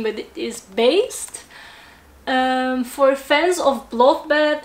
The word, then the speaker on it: Baest: again i had to look up how to pronounce this band name but it is based um for fans of bloodbath and morbid angel